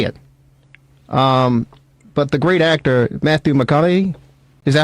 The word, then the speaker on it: Matthew McConaughey: But the great actor, Matthew McConaughey, is that how you say it?